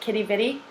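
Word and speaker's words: Quidi Vidi: it's the it's spelled quid e but they pronounce it Kitty bitty brewery it's about a fork a block from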